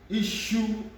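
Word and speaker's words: iṣu: She, like the pronunciation of shirt, shirt, shirt, she, issue, issue, the she, the S here is the she, issue is yam, yam.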